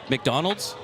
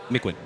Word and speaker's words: McQuinn: Hey, say his name for me. McDonald's. You're close. Say it again. McQuinn. There it is.